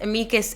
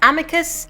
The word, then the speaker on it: amicus curiae: So an amicus curiae, and yes, it is pronounced amicus in Latin. I know a lot of people refer to it as amicus.